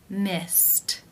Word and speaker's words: missed: Missed, missed. How do you pronounce this word? The final infinitive sound is the T sound.